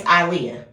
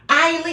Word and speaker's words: Eyah: My name is Eyah. It just rolls off the tongue. Ei. She has real emphasis on the I.